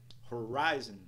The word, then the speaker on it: horizon: senama C C C Horizon nós temos um apóstrofe após a segunda sílaba Horizon Horizon Horizon no